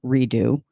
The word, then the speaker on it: Redeaux: is called resolution redo redo um the second redo is spelled re e d Au ux which is a little Louisiana flavor that is nonsensical and not actually French but anyway so I'm